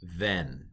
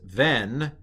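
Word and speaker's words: בֶן: So this is, if it had the dot, it would be ben, but without the dot, it's ven. And another makef is just a dash. That is ven.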